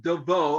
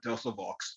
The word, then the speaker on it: Devoe: dear friend uh melissa devoe i used to call her dusavox because of her how our last name is spelled so i actually found out that it's devo i'm sorry melisa please